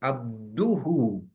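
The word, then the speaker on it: عبده: Change करना पड़ेगा और अब्दुहु पढ़ना पड़ेगा। और पहली जो नमाजें मैंने 40 साल तक पढ़ी हैं जिसमें मैंने अब्दहु पढ़ी है, वो मुझे रिपीट करने की जरूरत नहीं है, अगरचे मेरा वहां पर प्रोनाउंसिएशन गलत रहा है, लेकिन प्रोविजन ये है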